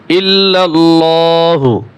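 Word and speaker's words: إلا الله: লা ইলাহা লা ইলাহা ইল্লাল্লাহু ইল্লাল্লাহু লামকে মোটা করে ইল্লাল্লাহু ইল্লাল্লাহু মুহাম্মাদ হামিম জবর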